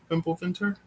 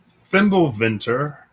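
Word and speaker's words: Fimbulvinter: Uh, let's see if I know how to spell it. F I M B U L V I N T E R Fimple Venter V I N T E R Hey, Fimble Venter uh is the great winter in Norse mythology.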